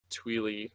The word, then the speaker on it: Twili: The idea that the Tweely or Twilight race, however you want to pronounce it, I always say Tweely, had these legends of